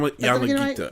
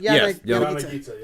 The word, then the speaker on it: Yanagita: I I pronounced it wrong. It's a self-published game. His name is Roger uh Yanagita. Yan Yanagita Yanagita Yanagita.